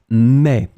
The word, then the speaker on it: met: The verb is mettre, but as you can see, you pronounce them the same way. So je, tu, il, and elle, it's pronounced mais, but it's clearly written